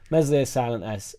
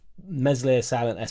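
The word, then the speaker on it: Meslier: look at it's crazy mesli silent S I also think he's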